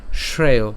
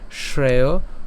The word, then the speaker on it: শ্রেয়: কেমন হবে ভাবান এরপরে শ্রেয় শ্রেয় হ্যাঁ তালব্য স আছে বিধায় সেজন্য হচ্ছে শ্রেয় উচ্চারণ করলাম শ্রেয় ভোক্তুং এখানে আমরা যেটা